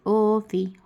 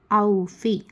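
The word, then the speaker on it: أَوْفِي: औफ़ी ऐसा नहीं पढ़ते, ओफ़ी, होला, सोम, इस तरीके से पढ़ते हैं। ऐसा पढ़ना गलत है। औफ़ी अच्छे से पढ़ना है।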